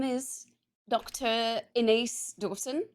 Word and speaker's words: Ines: Inace Dawson. I always say in rhymes with space or with face.